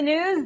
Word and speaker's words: Gnooze: Hello and welcome to the news. The G is silent.